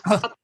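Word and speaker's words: Πλάτων: Is it actually Plato in Greek? No, it's me trying to make yoga with my tongue and try to speak English. It's Platon. It's Plato. Platon in Greek.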